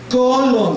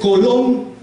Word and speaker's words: colón: ¿Cuál fue la diferencia ahí? El acento. Pronunció la niña la sílaba, la penúltima, más fuerte que la última. Y sí, decía colon, pero es colón. La última es, aquí en este ejemplo, es la sílaba fuerte o la sílaba tónica, y como termina en